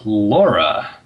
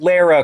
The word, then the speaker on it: Lara: the next character is Laura Laura Croft that wouldn't be horrible pronounced Lara Croft man she looks a